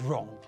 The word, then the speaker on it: wrong: we pronounce the word wrong we say the word as though the first letter was r not w now there are a